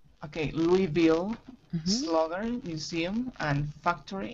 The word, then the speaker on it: Louisville: So it's like Louis the Fourth, Louis the Fifth. Uh-huh. You know, the king. Uh-huh. Yeah, so we say Louisville. Okay, Louisville, mm-hmm. Slugger Museum and Factory in downtown Louisville.